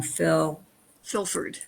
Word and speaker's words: Filford: I always get his last name wrong. Filford. Filford, thank you. I always want to add a TH at the end.